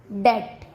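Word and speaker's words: debt: बी का second rule है, जब टी से पहले बी आता है तब भी बी का उच्चारण नहीं किया जाता। जैसे डेट, डाउट, सटल।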